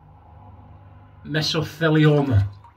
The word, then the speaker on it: mesothelioma: So it's Japanese, that Japanese paste, miso. Right, so that's your first bit, miso. And then Thiele, Theele, Thiele. So you've got miso, and you've got Thiele, and you're